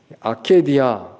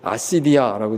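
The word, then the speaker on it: acedia: 아케디아 또는 이제 영어로 아시디아라고 읽기도 하는데요. 아마 원어가 아케디아인 것 같습니다.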